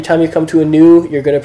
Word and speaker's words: nu: you come to a new, you're going to pronounce it like a V. And you just got to stop and remind yourself, nope, that's a N. N. New, as in new.